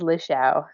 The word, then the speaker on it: Lichaw: it for me sure my last name is Lee Chou it's I've had friends since kindergarten who can't pronounce it and it it's totally okay yeah that's not how I've been saying it so Lee Xiao that is I'm glad to know how to